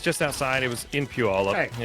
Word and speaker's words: Puyallup: It was in Puyallup.